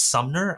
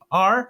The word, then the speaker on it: Sumner: And by the way, it's Sumner. I've almost mispronounced this. It's Sumner.